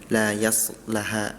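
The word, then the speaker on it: لا يصلاها: Sama terakhir di surah allail ayat 15 pada ayat la yaslaha. Tadi lanya dibaca pendek la keduanya. La yaslaha. La yaslaha itu itu dibacanya pendek seharusnya dibaca panjang.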